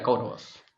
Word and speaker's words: Kauravas: yeah, Kauravas.